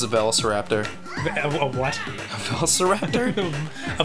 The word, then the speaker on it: velociraptor: How do you say it? Velociraptor. No, it's a velociraptor.